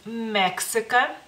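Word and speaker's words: Meksika: México en lituano es mexica mexica como pueden ver no no tenemos la x bueno en el abar lituana no existe y pues es ks mexica Y sí es en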